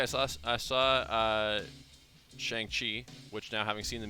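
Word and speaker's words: Shang-Chi: by the way i saw i saw uh shang chi which now having seen the movie i know is actually pronounced shong chi really liked it thought it was super fun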